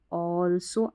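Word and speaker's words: also: The festival, festival ऑल्सो, आल्सो नहीं पढ़ना है इसको, ठीक है।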